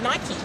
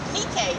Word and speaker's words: Nike: So fun fact, I used to always call her Nike, but it's actually pronounced Nike.